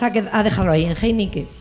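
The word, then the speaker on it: Heinicke: a dejarlo ahí en Heinique, que no es como la cerveza, eh, es Heinique.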